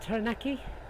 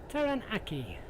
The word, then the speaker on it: Taranaki: Is that, was that Mount Taranaki? I may not be pronouncing that right, but there it is.